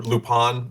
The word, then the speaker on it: Lupin: i've never been a big lupin iii or lupone the third i always called it lupin i know i'm mispronouncing it it's lupon uh but i've been